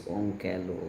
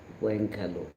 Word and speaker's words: Onkalo: For the next question, which country constructing Onkalo? This is Onkalo, okay, or Onkalo, or Wankalo. There are different pronunciation.